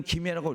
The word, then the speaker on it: 김해: 우리가 이 금해라고 쓰는데 읽기는 김해라고 읽잖아요.